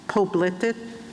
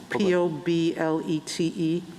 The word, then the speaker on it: Poblete: Arizona case, state versus, I'm pronouncing it wrong, Poblete, P-O-B-L-E-T-E. Federal law, well, how do you say it? Poblete. Poblete, okay. I should have said it in Spanish to start with. It is poblete.